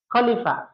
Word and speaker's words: খলিফা: আর খলিফা এর ইংরেজি উচ্চারণ হচ্ছে কে এইচ এল আই এফ এ খলিফা।